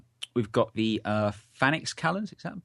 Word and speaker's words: Phalanx: We've got the Phalanx cannons. Is that pronouncing that right? Phalanx.